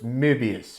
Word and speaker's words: Möbius: That's in German, so it makes almost a cross between a glottal stopped O and an sound. So it's Möbius, Möbius. And it's not Möbius. Though anglicized, it probably would be pronounced that way.